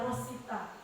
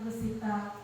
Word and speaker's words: Russita: adalah rusita SPD meskipun bicara rusita itu sulit biasanya kalau orang Jawa panggilnya Rosita tapi kalau ejaan yang benar rusita SD saya adalah P3K